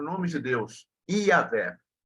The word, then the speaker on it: Yahweh: Em outra linguagem é Yahweh, mas na nossa pronúncia é Iavé.